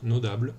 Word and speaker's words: Nodable: Hi everyone, my name is and I'm here to present to you my software, my teeny software, Nodable or Nodable if you pronounce it in French.